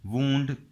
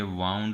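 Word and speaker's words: wound: वूंड का मतलब हो जाएगा, इसे वूंड पढ़ेंगे, वाउंड नहीं पढ़ेंगे।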